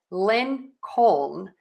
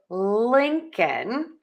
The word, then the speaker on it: Lincoln: How do you pronounce the name Lincoln? I hear so many people, so many of my students say Lincoln. And that's not correct. We are going to say Lincoln.